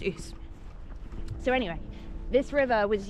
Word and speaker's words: Ouse: So for most of my life, I was calling it Ouse Valley, until I was telling someone about it and they had no idea what I was talking about, and then realised and corrected me, it's pronounced Ouse.